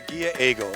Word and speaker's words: Ghia Aigle: How do you pronounce this? It's a Ghia Aigle.